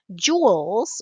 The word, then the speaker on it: joule: Joules, or capital J, they're the dollars of energy. Uh, this is James Joule. It sounds like jewel, but it's spelled like this, joule.